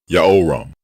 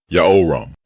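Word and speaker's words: יהורם: Both forms are pronounced the same way. Ya'oram, Ya'oram. And his name means Ya'o is exalted.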